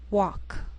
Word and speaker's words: walk: sheal it wheel Veil sometimes L can be silent so you have to be careful the first five words listed below are very common so let's take the time to make sure that you're pronouncing them correctly listen and repeat after me talk walk could should W the yellow part of an